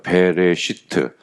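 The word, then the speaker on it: בראשית: 뜻입니다 뭐뭐 안에 그래서 배 레 시트라고 읽어요 베레시트 그래서 영어로 하면은 뭐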